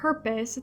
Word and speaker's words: purpose: La palabra purpose tiene 3 vocales, la U, la O y la E. Las dos sí suenan y la E al final no suena.